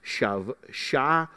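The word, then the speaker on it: שבועות: To the Jew, the day was also known as Shavuot or Sabbath, pronounced Shavuot, with the emphasis on the third syllable.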